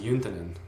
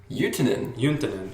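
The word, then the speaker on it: Juntunen: And so I adopted that, and then I learned that it's actually pronounced Juntanen. Juntanen, because it's Finnish. Huh. So the J turns into like a Y sound, basically.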